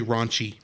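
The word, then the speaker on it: ランチ: Well, except the way the Japanese say it, there's another syllable at the end. Her name in Japan is actually Ronchi.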